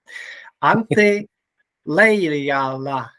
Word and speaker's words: Antti Leijala: And now I will show my Finnish language by pronouncing your name correctly. Antti Leijala. Yes, that's pretty well done.